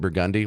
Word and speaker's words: Burgundy: The next street over is Burgundy. It's spelled Burgundy, but they pronounce it Burgundy.